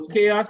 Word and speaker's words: chaos: So chaos is a noun. So you stress the first syllable.